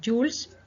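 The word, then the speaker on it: joule: su sigla es el jules que se escribe julio pero se pronuncia jules y se simboliza o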